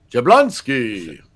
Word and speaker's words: Jablonski: Thank you, Jablonski. I hope I pronounced your last name correctly. No, you have to say it more like a comic book. Jablonski. That's better.